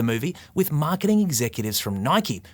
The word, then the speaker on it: Nike: Affleck and screenwriter Alex convery have filled this jordan-sized void at the center of the movie with Marketing Executives from Nike which rhymes with bikey BTW to settle that age-old